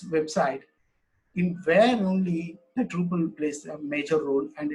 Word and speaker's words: Drupal: It's a Dutch word. Drupal. It's mean that how it's spelled. Truppel.